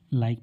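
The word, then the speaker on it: like: उच्चारण नहीं करते क्योंकि लास्ट में आए हुए ई हमेशा साइलेंट होता है उसका कोई साउंड नहीं होगा एल आई के ई लाइक तो यहां पर इसे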